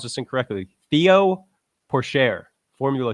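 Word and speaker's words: Théo Pourchaire: Flyer win of the week, and I'm going to pronounce this incorrectly. Theo Porcher, Formula 2 champ.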